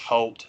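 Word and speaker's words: Hoult: um l fanning and nicholas i think it's pronounced halt the kid that played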